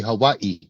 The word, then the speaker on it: Hawaii: You got to say it correctly. Hawaii.